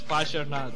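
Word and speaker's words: Parshvanath: Yes, missed by pronunciation. Paras. It's Pasharnath.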